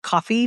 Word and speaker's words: Ko-fi: those Ko-fi, I think it's actually pronounced just coffee, but the KO-FI, buy me a coffee, like, tip jars?